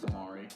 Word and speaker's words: Mari: final Splatfest Splatoon, and it was Callie versus Mari. And yes, it's Mari. Not Mari, because it's calamari. Don't argue with the pronunciation of that, it's Mari. And Mari won.